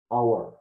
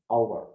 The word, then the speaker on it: hour: we do not we don't need to uh pronounce the edge hour hour and the second example is honor armor and